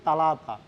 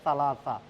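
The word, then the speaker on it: ثلاثة: আর ইতনিন দুই সালা আমরা অনেকজনে বলি যে তালা তালাতো সঠিক কিন্তু শুদ্ধ উচ্চারণ হবে সালা সা তা এর পরে যে শব্দটা থাকে ওটা হচছে সালা আপনার সা শব্দটা ইউজ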